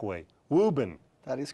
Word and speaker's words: Woburn: try and say your hometown the correct way Reuben that is correct Massachusetts now what are what